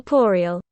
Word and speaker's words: corporeal: Corporal bodies corporeal bodies how do you say that word Co corporeal corporeal okay it's not even close to Corporal corporeal he argued that